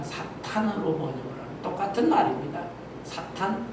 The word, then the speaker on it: 사탄: 근데이 사탄을 번역을 할 때 예전 개혁 성경에는 사단 이렇게 번역을 했는데 발음을 좀 정확하게 해서 사탄 그러면 좋겠어요. 지금 번역은 다 사탄으로 번역을 하는 똑같은 말입니다.